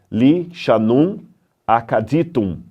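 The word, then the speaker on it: lišānum akkadītum: Em cima você tem os sinais cuneiformes e você tem um trechinho em língua acadiana, que se lê Li Shanum Acaditum.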